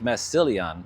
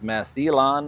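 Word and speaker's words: Massillon: a couple of viewers chimed in with a pronunciation for me for is Mass E or Massan, Ohio. Uh, I thought it was Massilon, but apparently it's Masilon or Mass Alon, Ohio, and also White Bear Lake, Minnesota.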